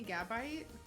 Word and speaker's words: Gabite: I'm guessing it's like Gabite because I've said it a couple times now. No one's corrected me. It's actually Gabagool. The way I'm pronouncing it is correct, Anthony. Gabite.